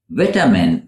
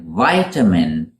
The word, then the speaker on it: vitamin: Vitamin for British speakers and vitamin in American English. Vitamin with a long I.